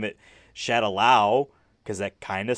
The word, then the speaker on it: Shadaloo: It's not called Shadaloo, it's Shadaloo. There's 2 O's at the end there. That's how everyone pronounces it in the games and all that stuff.